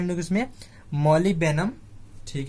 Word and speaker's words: molybdenum: तो इसका स्पेलिंग देख लीजिए, क्या है, MOLYBDENUM। क्या है, मॉलिबेनम। तो डी को हम लोग क्या कर रहे हैं, साइलेंट करके पढ़ रहे हैं, मॉलिबेनम।